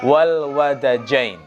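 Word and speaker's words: والودجين: Saya perhatikan di syarahnya itu cara melafalkannya itu adalah dengan memfathahkan wawu dan dal. Jadi bacanya wal wadajain.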